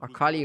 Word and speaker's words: Akali: I figured your palate Akali rhymes with Rakari.